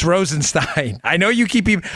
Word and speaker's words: Rosenstein: much I forget your name I'm sorry it's Rosen Stein trust me it's Rosen Stein I know you keep even I've got this from so many B it's Rosen Stein I say it wrong all the thighs rodents